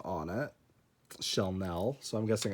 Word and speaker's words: Shellnelle: her name on it shelnell so i'm guessing it's supposed to be pronounced like chanel since that's very obviously